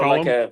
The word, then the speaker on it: Colm: We have a tequila brand um, that it's Colm, right? You got it, Colm. Yeah. So Colm. like it's Gaelic. It's Irish Colm, but pronounced like Collum.